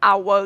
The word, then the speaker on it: hour: Jadi an hour di hour-nya itu yang huruf H-nya itu dibacanya silent. Jadi an hour itu jadinya A depannya gitu.